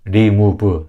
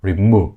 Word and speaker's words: remove: 그래서 remove 3음절이 아니라 remove 영어스러운 발음이 아니라 일단 이 음절하고 강세만 지키셔도 훨씬 더 외국인하고 영어로 소통할 때 훨씬 더 소통이 잘 되는 걸 느끼실 거예요.